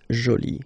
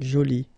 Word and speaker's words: jolie: you can see that you put this uh but then you don't pronounce it okay so it's Jolie so basically the two adjectives masculine Jolie and feminine Jolie are